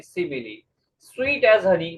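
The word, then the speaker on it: simile: अब इसी तरह इसकी क्या प्रोनाउंसिएशन होगी? इट्स सिमिली।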